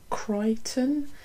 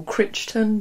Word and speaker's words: Crichton: reading was jurassic park by michael crichton i think that's how it's supposed to be said i used to always call him michael crichton because i can't pronounce people's names so obviously this is